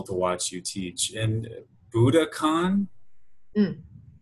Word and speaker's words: Budokan: watch you teach and Budokan how do you say this at Budokan yeah it's almost like Buddha and like Khan well it's exactly Oh